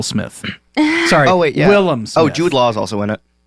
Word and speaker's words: Willem: Keitel is in there Willem wow yeah it's Shock full of amazing people you pronounce it correctly yeah because so many people say William defense get it right or